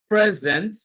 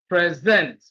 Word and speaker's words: present: So when it is used as a verb, stress is on the second syllable. When used as a noun, stress is on the first syllable.